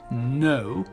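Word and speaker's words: know: dire oh ici donc la combinaison du cas et du n en anglais très souvent on ne prononce jamais le cas comme dans par exemple le genou ni le chevalier night le verbe savoir ou connaître now et on termine avec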